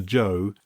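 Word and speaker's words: Zhou: And then you have something which you which I pronounce the kingdom of Zoe, but I think I'm pronouncing the zed where I should be calling the kingdom of Cho. Is it Joe? Yes, it's Joe.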